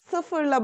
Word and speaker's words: sıfır: Sıfırla başlıyoruz arkadaşlar. Bunun nul diye, Uygurca'da nul diye geçiyor ama Türkçe'de sıfır. Dikkat etmemiz gereken şey İ harfiyle değil, I harfiyle okunuyor arkadaşlar. Sıfır. Sıfır değil, sıfır.